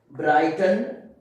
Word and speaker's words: Brighton: After I, GH is silent, okay. I mean these both letters are silent. Like Brighton, you see it is the middle of the word, okay.